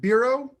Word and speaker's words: Biro: is it Biro? B-I-R-O? Apologies if I'm pronouncing your name incorrectly. Yes, it is.